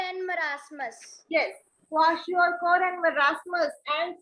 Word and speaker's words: marasmus: And marasmus. Marasmus. Somebody yesterday, some students were बोल रहे हैं पता नहीं maramus, muramus. I don't know what they were speaking.